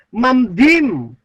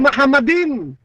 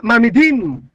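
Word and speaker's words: מחמדים: Kaya pag binasa po yan, mamdim. Oh? Hindi yan mahamadim. That is mamdim. Ha? Yung ibang mga Hebrew, kagaya ng mga Ashkenazi Jews, ang bigkas nila diyan ay mamidim.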